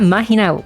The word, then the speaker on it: Mahina: same name but they got mahina name wrong like they D her as makina even though there's an